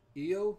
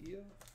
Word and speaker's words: Io: Io. That's how you say it. Io.